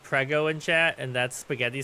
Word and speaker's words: prego: Someone in the Italian stream said prego in chat, and that's spaghetti sauce here.